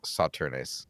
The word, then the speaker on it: Sauternes: sweet dessert wines like Sauternes. Nope. Sauternes? Sauternes. Sauterne. Okay, so those last ES were just completely unnecessary letters.